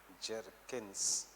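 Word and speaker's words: Bjerknes: by by B jerkin Jerkins and Jerkins by Jerkins and Jerkins B is silent they are Norwegian so B is always silent my and Jerkins and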